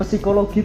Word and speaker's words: psikologi: Jadi dari bacanya dulu ya, P-nya tuh dihilangin, Kak. P-nya dihilangin. Jadi psikologi bacanya.